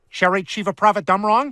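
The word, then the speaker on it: Cherry Chevapravatdumrong: Star Wars characters everybody from The Cleveland Show Cherry Chiva prava dumrong that's how that name is pronounced the Orville the ship not the cast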